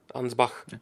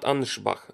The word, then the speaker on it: Ansbach: I think it's Anschbach. Anschbach. Ansbach. Yeah. Not Anschbach. Ansbach.